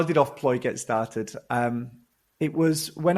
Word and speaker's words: Offploy: I hesitate because I'm not quite sure I'm pronouncing it correctly. Offploy gets started. Is that right? Offploy, yeah.